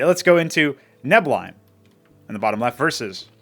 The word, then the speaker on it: Neblime: it is apparently pronounced neim as in the first syllable is neb and not NE but uh who would